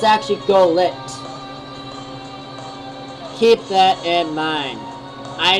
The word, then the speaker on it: Golett: to say it correctly, so it's actually Golett instead of Goglet. It's actually Golett.